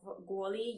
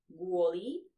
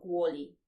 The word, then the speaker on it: kvôli: And in the beginning of the word, we have the letter k, but in this case, it is pronounced g.